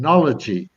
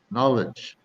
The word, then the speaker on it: knowledge: I had a guy the other day kept saying knology. I said, no, it's not knology. It's just knowledge, Not Okay, that okay. just adds another syllable on the end.